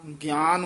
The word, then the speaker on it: ज्ञान: देखन देख भाई न गान नहीं कह देना ग सरी कना नना ज्ञान उच्चारण करना ठ याया है देखो